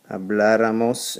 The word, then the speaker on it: habláramos: Ra, ras, hablara, habláramos, and because we're adding that extra syllable, we need to add the accent where? Count with me. 3 vowels in. 1, 2, 3.